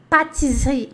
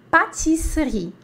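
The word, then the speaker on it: pâtisserie: para ficar bem bonitinho o seu a sua pronúncia boulangerie patisserie partes aí boulangerie boulangerie patisserie boulangerie patisserie é a padaria Confeitaria tá então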